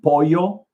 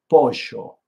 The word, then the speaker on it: pollo: And then they pronounce their L's and Y's more like a sh and a sh instead of like a Y sound. Like for chicken, pollo, they'll say like pollo, pollo. So it can throw you